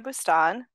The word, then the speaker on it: Boustan: uh your employer well I'm Leah bustan um that is how you say it and um I'm a